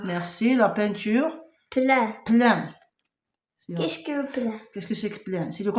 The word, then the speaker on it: peinture: Nous avons le 1 qui s'écrit avec e I n. Dans le texte nous avons ceinture, nous avons peint. Je t'ai donné d'autres mots avec le 1, c'est pain e comme pain.